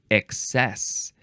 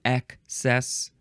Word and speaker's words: excess: Next is the first form of excess. You could say excess or excess. It's spelled with an E, so I like to say excess.